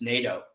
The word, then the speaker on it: Nadu: But don't wait 2 years to tell me that Nadu is pronounced NATO. You know?